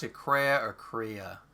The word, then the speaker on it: Kreia: What's really cool is Kreia. One of like the best Is that how party you characters. do you pronounce it Kreia or Kreia?